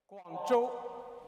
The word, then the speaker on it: Guangzhou: Did I pronounce it right this time? How you say it? Guangzhou.